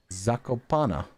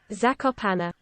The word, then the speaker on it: Zakopane: Town in Poland. Zakopane. Pronunciation. Bum ba bum ba bum. Zakopana. Zakopana. I've been doing it so wrong.